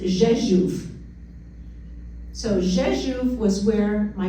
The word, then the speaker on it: Rzeszów: The red box, even though it's spelt as it is pronounced Rzeszów.